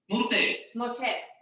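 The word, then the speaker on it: morter: Motel. Murte. Yeah. Murte. That's a Catalan specific thing. Sometimes when the O, the written O is not a strong syllable, we say you, mu.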